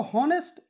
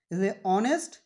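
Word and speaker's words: honest: में कौन-कौन और ए ग ल मैं इसको होनेस्ट हाउ आर या हेयर नहीं पढ़ा जाएगा क्यों क्योंकि इसका पहला अक्षर जो है लैटर टू है और साइलेंट हो गया है ऑनेस्ट पावर प्रॉफिट करके हम देखते हैं से प्रारंभ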